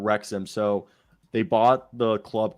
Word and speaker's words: Wrexham: does that say ryan why'd they spell the name wrong because the the club is called wrecked it's called wrexham so they bought the club called rexim wrexham